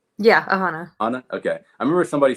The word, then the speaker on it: Aahana: aana is that you say it right yeah aanaa okay I remember somebody said like Alana or